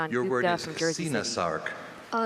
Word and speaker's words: coenosarc: Your word is coenosarc. Uh coenosarc. Can I please have all the information? Uh a coenosarc uh also pronounced sennasarc or coenosarc is a noun.